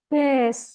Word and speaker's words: Bes: Nah, bebes. Padahal ini bukan bebes, tapi apa bacanya? Bes. Bacanya bes, bukan bebes.